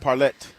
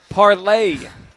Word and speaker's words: parlay: You keep you you pronounce it as though it's a French word that ends with an e t. Parlet parlay.